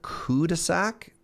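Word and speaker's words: cul-de-sac: it's very spread out fun fact the L and called the sack is silent Cuda sack is there a 6x4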